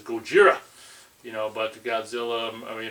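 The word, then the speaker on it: ゴジラ: you know in JP in Japanese it's Gojira you know but Godzilla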